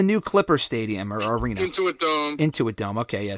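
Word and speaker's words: Intuit Dome: 2025 they're going to the how do you pronounce it the into it dome it's the new Clipper Stadium or Arena into a dome into a dome okay yeah so it's a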